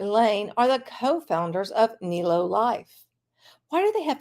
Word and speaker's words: Nélo: you should know about Neo pronounced Neo life who's behind Neo life